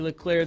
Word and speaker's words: Leclerc: Producer Katie's not here, but she's on Twitter at Katie Leclerc. The C at the end is silent.